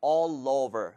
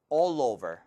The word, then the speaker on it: all over: 이거를 all over 이게 아니라 all over. 거의 lover처럼 발음이 돼야 된다면 L하고 O 지금 자음하고 모음하고 합쳐졌기 때문에 한번 해볼게요. All over.